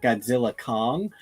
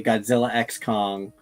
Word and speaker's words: Godzilla x Kong: explained to me that the X in the middle is not pronounced so it's just Godzilla Kong which also gave me